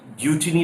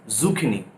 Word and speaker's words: zucchini: Pronunciation matters the most, क्योंकि कुछ लोग गिलकी को जुचिनी भी बोल देते हैं काम चलाने के लिए, but it is zucchini, zucchini.